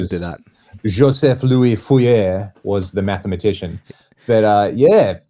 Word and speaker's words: Fourier: But like Fourier, is that how you say it? Yeah, it's. I mean, that's how my dad says it. Yeah. That's how I grew up hearing it. But I believe it probably should be pronounced Fourier.